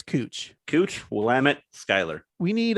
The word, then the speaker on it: Couch: we have uh it's it's pronounced cooch street but it it reads as couch yes so you know